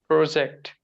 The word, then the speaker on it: project: The O sound is a bit more evident here, a bit more pronounced.